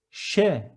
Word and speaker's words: Ş: And the next one with a tail, Ş, as in show, Ş.